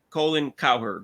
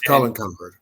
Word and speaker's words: Colin Cowherd: four but but mainly colen coward if I pronounce his name right col it's Colin coward Colin coward K Colin Colin Coward sorry uh and uh